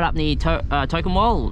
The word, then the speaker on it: Tocumwal: up in the uh token wall talking token one that's how they pronounce it and you are allowed